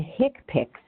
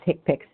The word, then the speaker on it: HCPCS: annually on October 1st CPT and hick picks HCPCS pronounced tick picks they are used to